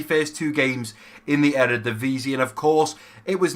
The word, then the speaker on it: Eredivisie: Now, I think it is pronounced Eredivisie. I think that is how you pronounce the league.